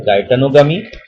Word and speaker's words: geitonogamy: First is autogamy, second is geitonogamy. Some can pronounce it as a geitonogamy और कुछ ऐसे भी pronounce करते हैं गाइटनोगमी।